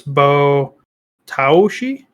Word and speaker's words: bo taoshi: ashy it is b-o a-o-s-h-i s-h-i so it's bo taoshi and according to this article it's intense okay